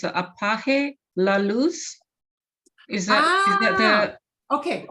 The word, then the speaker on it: apague: If you're speaking, you said it right, apague.